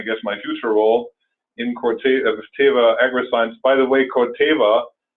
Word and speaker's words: Corteva: You probably haven't heard that name yet, but Corteva, actually, I should pronounce it correctly, is the new company that